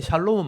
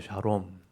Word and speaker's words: 샬롬: 말이 온 거예요 요게 샬롬은 많이 들어보셨죠 샬롬 우리가 샬이라고 표현하지만 원래 그 발음 하려면 샤롬이에요 샤롬 원래 발음은 샤롬 있데